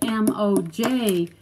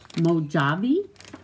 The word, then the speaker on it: Mojave: Mojave. That's the name of the desert, the Mojave Desert. But look, it's spelled M-O-J-A-V-E. Mojave?